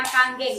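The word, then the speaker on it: Kangen: Nah, air kanggeng solusinya, bacanya kanggeng, bukan kanem ya, bahasa Jepang.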